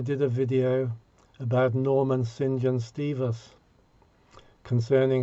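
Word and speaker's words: St John: a video about norman sinjan stevis concerning how the pronunciation of his name did not conventionally follow the spelling it says saint john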